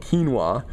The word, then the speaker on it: quinoa: I love saying it that way, but it's called quinoa. But when you look at it, that's how it's spelled, Q-U-I-N-O-A. And it seems like you should say quinoa, but it's a little